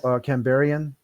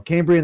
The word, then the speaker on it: Cambrian: yeah the camber was a cambo camberian i'm pronouncing that wrong okay there we go cambrian explosion things breathed carbon